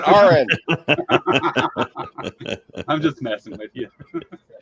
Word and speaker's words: Aron: to so many people it's not Aaron it's Ain and if I made